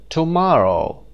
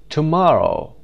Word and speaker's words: tomorrow: underlying the stressed syllables tomorrow tomorrow the second syllable syllable number two afternoon noon the third